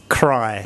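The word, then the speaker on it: ใคร: And so the vowel is written before the consonant, but pronounced afterwards. So it makes a cry sound.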